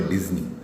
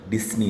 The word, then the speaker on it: डिज्नी: और ये जो चैप्टर लिखा गया है वो इनके जो बड़े भाई हैं रॉय ओलिवर डिज्नी, उन्होंने लिखा। देखना इसका प्रोनाउंसिएशन डिज्नी है, डिस्नी नहीं है, डिज्नी है। तो ध्यान देना, वॉल्ट डिज्नी के आपने बिल्कुल सुना ही होगा बहुत ज़्यादा।